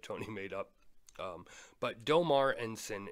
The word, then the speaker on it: Deaumar Ensign: Um, but Domar Enen is the correct pronunciation as Tony told me.